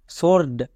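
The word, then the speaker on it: sword: W silent next S ডব্লিউ ও আর ডি সর্ড কেন এখানেও ডব্লিউ এর উচ্চারণ হচ্ছে না কারণ দেখো এস এর পরে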